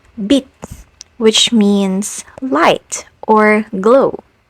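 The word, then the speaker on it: 빛: So if this basic consonant is pronounced as t as a final consonant, so will its aspirated counterpart, like in the word bit, which means light or glow.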